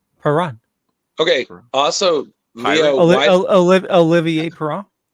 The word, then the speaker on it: Perron: this again next year, just remember the T is silent in chalet, just like Perron. Perron.